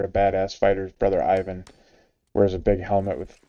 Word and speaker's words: Ivan: Ivan, and it's spelled Pikel, but it's Ivan and Pickle.